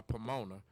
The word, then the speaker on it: Pomona: Charter but it's a reason why Pomona rhymes with Tacoma you guys take care